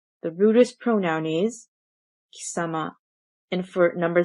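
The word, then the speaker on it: 貴様: This pronoun is pronounced as kisama and is rude and used mostly by males.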